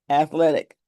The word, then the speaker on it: athletic: Athletic. One, two, three sounds. Three syllables. Athletic.